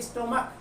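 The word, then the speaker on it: stomach: है और उसका उच्चारण, उसकी साउंड सी एच की कै के रूप में निकल रही हो, जैसे स्टमक स्टमक स्टमक कै के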